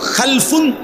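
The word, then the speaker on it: خَلَف: উচ্চারণের মধ্যে একটু ভিন্নতা মাঝখানে একটা লাম আছে এই লামটার মধ্যে যদি সাকিন হয় তাইলে হল খালফুন আর যদি লামের মধ্যে জবর হয় তাহলে হল খালাফুন আরবি শব্দ এ খালফুন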